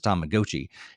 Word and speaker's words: Tamagotchi: me from that game that they pronounced it Tamagotchi. I thought it'd been Tamagotchi my entire life, but apparently at least the announcer said it was Tomagotchi.